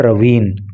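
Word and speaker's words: ravine: देखो इसका प्रोनाउंसिएशन पे आप ध्यान देना, इसका प्रोनाउंसिएशन होता है रवीन, और इसका मतलब होता है नाली या नाला या घाटी या दर्रा, ऐसे करके, मतलब बहुत गहराई।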